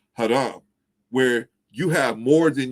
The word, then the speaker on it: haram: say uh harem you know in english they pronounce it harom in in in uh arabic it's pronounced haram where you have more than you should have